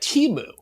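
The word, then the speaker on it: Temu: in the introductory email they say how to pronounce it but this one said timu t e e mu.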